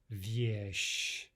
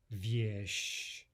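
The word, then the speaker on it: вещь: And viesh, viesh. No difference in pronunciation despite the presence of the soft sign.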